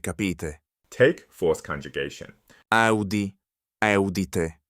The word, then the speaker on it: capite: In the third conjugation, the singular ends in a short E, but that E shifts to a short I in the plural. Listen for the change.